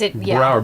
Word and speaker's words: Broward: Yes, Broward, because it rhymes with? Coward.